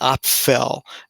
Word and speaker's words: Aphel: a causative um word and it is the op fell and you'll see that's spelled aphel and this is also in an